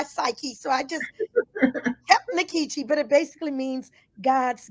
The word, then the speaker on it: Nkechi: in college I find out it really is inkechi uh in like in puma and the e